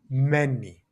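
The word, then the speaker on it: μένει: And that is many. many like so many. Feel free to take a moment to think about it as well and to produce the sound many.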